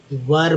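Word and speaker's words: were: ही न्यू, ई डब्ल्यू क्यू, न्यू, इसमें के silent, he knew that वी वर बोलते हैं, कुछ लोग वेयर पढ़ते हैं लेकिन वर पढ़ेंगे।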